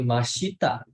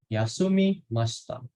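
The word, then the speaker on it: 休みました: Bacanya bukan mashita, tapi masta. I-nya itu kayak hilang gitu, minasan. Yasumi masta.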